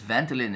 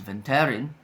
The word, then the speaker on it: Vantelin: We pronounce it as Vantelin in Singapore, but in Japan I believe it's Vantelin.